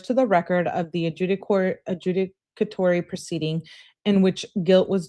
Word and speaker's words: adjudicatory: Adjudicatory.